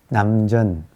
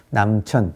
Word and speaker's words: 남전: 그리고 그 밑에 남전보원이라고 하는 남전. 저는 샘천자를 쓰는데 발음은 전이라고 발음을 해요. 남천, 남쪽 샘이란 뜻이죠.